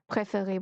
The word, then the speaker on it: préféré: مفضل préféré préféré، عايز اخليها مفضلة، حاطط لي الأ ما بين قوسين بيقول لي زود أ، بس طب النطق بتاعها هيبقى هو préféré برضو.